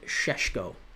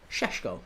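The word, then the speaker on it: Šeško: It's pronounced Sheshko. Sheshko.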